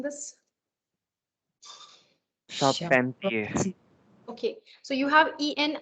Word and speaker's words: Charpentier: Charpentier. Okay, so you have EN, the sound of okay? You have the sound of like we did yesterday. This is, On. try again, try again. Pontier, Charpentier. No, Charpentier.